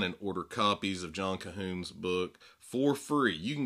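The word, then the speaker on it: Colquhoun: to a wonderful quote John cahun and it's spelled c o l quu h u n this has been the the year of John cahon because Reformation Heritage republished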